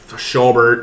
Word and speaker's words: Schobert: I think once you start on Thursday night with Schobert, is that how you pronounce it? Yep, Schobert.